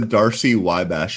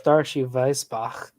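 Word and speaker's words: Darcy–Weisbach: What the heck is the Darcy-Wybash equation? I don't know what that is. Well, it's Darcy-Weisbach.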